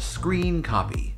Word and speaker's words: scrcpy: phone so I've been using a program called screen copy it's spelled like this screen copy is a really